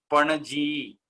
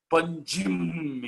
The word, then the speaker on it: पणजी: पणजी पणजी उच्चारणं ते कर्तुं न शक्तवन्तः, पञ्जिम् इति कृतवन्तः।